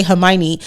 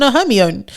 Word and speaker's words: Hermione: would die on because we all learned how to say Hermione and I read the books before I watched that I read it when I was 10 and for a long time I was calling a homie so like if I